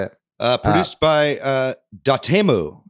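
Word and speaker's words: Dotemu: uh produced by uh da temu as apparently we've all been mispronouncing this whole time yeah we've been saying dot emu yeah but we've been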